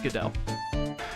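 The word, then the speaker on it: Godot: I imagine it's GDAU. Normally, a name like this with a T at the end like that, you normally don't pronounce the T. It's GDAU. Okay, it is GDAU.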